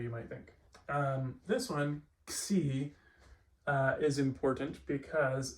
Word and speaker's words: Xi: Xi is basically just a combination of K and S, or perhaps kappa and sigma. And it, unlike the English letter X, always is fully pronounced.